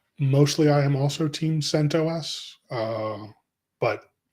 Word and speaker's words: CentOS: So is it CentOS? Like, what's the official pronunciation?